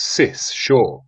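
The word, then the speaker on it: Seul Choix: a lot the easiest way I know to pronounce it is sis sure she told me after getting that cleared up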